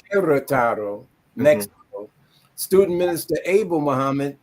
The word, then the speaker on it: Querétaro: Born December 13th, 1974 in Chicago, Illinois, of Mexican parents from Guerrataro, pronounced Querétaro, Mexico.